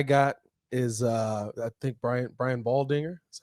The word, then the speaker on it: Baldinger: The one I got is I think Brian Baldinger, that's how you say his name, said this on the Pat McAfee show.